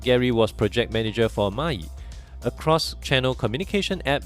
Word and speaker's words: maaii: to solve so actually the word may is coming from the Chinese word and which pronounce mayi in mentoring and the reason is